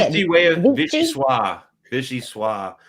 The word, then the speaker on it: vichyssoise: Fancy way of vichyssoise.